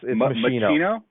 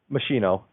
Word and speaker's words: Maschino: It's Maschino. Maschino. Like So you do pronounce the S. Yeah, machine and then the O.